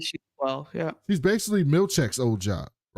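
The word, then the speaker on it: Milchick: He keeps calling him Milkshake. And Mark S is like, it's Milchek.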